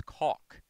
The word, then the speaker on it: caulk: caulk it's call it's caulk that's how it's pronounced here we've always pronounced it that way ever since the dawn of new england it's it's an awe like you walk you don't walk you